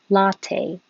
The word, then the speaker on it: latte: the second syllable cafe and latte we put the stress on the first syllable so cafe latte absolutely you don't release